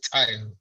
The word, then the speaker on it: Tayo: It's not. It's Tayo.